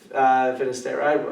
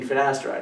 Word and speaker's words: finasteride: I always say it wrong, which I think is hilarious, because like in my head it's finasteride, but my mom's a pharmacist, and so you mean finasteride?